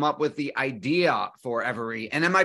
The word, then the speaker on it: Everee: with the idea for every and am I pronouncing the name of the company correctly uh you are yeah that's how you pronounce it every uh thanks for asking